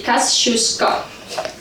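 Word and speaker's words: Kościuszko: One of the subway stations here is called after the B place historical figure Kasushka. In a place they pronounce this name in a funny way. People in Brooklyn say Kasushuska.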